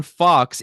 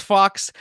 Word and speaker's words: Fawkes: Fawkes. It's pronounced Fox, but it's spelled differently.